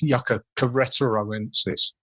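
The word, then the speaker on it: Yucca queretaroensis: wrong, I suspect, is Yucca queretoroensis. Yeah, that's easy when you break it down, actually. It comes from the state of Querétaro. So it's Yucca queretoroensis.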